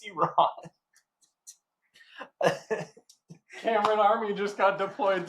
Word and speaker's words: Iran: There are you Cameron Army just got deployed to Iran. Boom. You said it wrong. It's Iran.